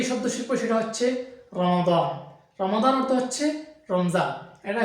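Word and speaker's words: رمضان: ইমরান আছি আপনাদের সাথে দর্শক আজকে আমরা শিখবো রমাদান বিষয়ক শব্দাবলী এবং বাক্যবলী তো যাই হোক শুরু করি আজকে আমরা প্রথমে যে শব্দ শিখবো সেটা হচ্ছে রমাদান রমাদান অর্থ হচ্ছে রমজান এটা হিজরি একটা মাসের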